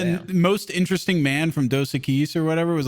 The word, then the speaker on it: Dos Equis: Yeah, Dos Dos Equis? Equis, that's correct. Yeah. Yeah. Flawless pronunciation there.